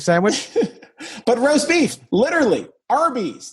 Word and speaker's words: Arby's: But roast beef, literally, Arby's, their name is R, like phonetically, R and B, Arby's, roast beef.